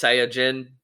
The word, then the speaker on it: Saiyajin: in the Japanese language you would say it's Saiyajin, but it's pronounced or Saiyajin.